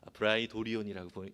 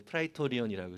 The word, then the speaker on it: 프라이토리온: 빌라도 앞에서, 총독이었던 빌라도 앞에서 재판을 받았던 그 재판장이 브라이토리온이라고 오늘 개역개정에 쓰는데 프라이토리온이라고 이렇게 발음이 되어집니다.